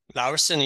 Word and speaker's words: Laursen: How do you pronounce it in English? Laursen, you're quite correct, Lars.